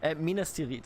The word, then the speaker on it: Minas Tirith: in the attack of Minas Tirith turret Mina still eat this is how we pronounce it in German okay what do you